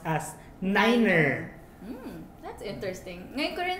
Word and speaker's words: niner: Oo, pero yung nagpo-pronounce lang ng 9 as niner is in aviation.